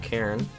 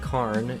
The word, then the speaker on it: Karn: Some of them I do not understand why they were commented, like how I mispronounced Cairn. I've been told that it's pronounced Karn and that it's insane and cringe that I do not pronounce it right.